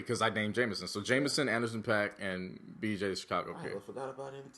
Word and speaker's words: JMSN: there go that's another one where is this Jameson person from Detroit Detroit Detroit he's a white boy jmsn that's how you spell it J MSN yes um so those are